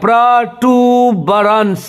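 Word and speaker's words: protuberance: प्रोटूबरेंस देखिए, प्रोनाउंसिएशन पे थोड़ा ध्यान दीजिएगा, प्रोटूबरेंस। देखिए यहाँ पे टी के ऊपर लकीर है, यू के आगे दो बिंदी है, यू मतलब हो गया दुर्गु, मतलब इसको लंबा करके बोलना पड़ेगा।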